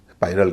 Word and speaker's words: spiral: इसमें आई के बाद आर है, आर के बाद ए है, यानी एक वावल है, तो आई का उच्चारण ये बार अ नहीं हो रहा है, इसको परल नहीं कह रहे हैं, स्पाइरल कह रहे हैं।